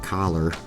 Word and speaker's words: color: it, because I'm sure I say the word color, C-O-L-O-R, probably weird than compared to you. How do you say it? You say, I know the joke or around here and around here in these parts is like collar, like with an A instead of an O.